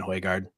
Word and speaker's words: Højgaard: I just love saying Højgaard. It's fun. I'm finally pronouncing it right, too.